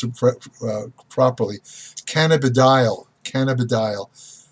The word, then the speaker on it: cannabidiol: hemp plant, which is called I want to pronounce it properly, cannabidiol.